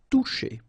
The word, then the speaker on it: toucher: Okay, remember you combine this O and U, you get the sound OU, and then C and H, sh. Toucher.